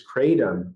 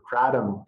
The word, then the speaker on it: kratom: hooked on it is kratom or kratom, depending on how you want to pronounce it.